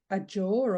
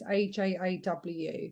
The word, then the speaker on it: Ajaw: And now I want to say the sun god called Ajor or Ajor. It's Ajaw, the sun god that name's pronounced or spelled.